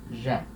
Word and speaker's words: jette: Então, no infinitivo eu tenho um T só, aqui eu já tenho dois T's, e aí o som fica E. Je jette.